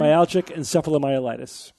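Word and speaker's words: myalgic encephalomyelitis: Is it's it's myalgic and sephilomiitis. Am I pronouncing that right? Myalgic and sephilomiolitis.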